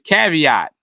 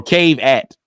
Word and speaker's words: caveat: of the day is caveat which is spelled like cave cave eat or cave at but it's caveat a caveat is an